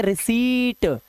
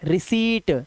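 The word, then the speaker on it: receipt: रिसीप्ट रिसीप्ट नहीं आधा पा नहीं लगाना है। रिसीट सी बोलो और ट लगा दो बस रिसीट।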